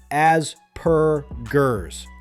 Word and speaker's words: Asperger's: The correct way is Asperger's. Start with as, like saying the word ask without the K, then per, and finally gers with a soft J sound, not a hard G.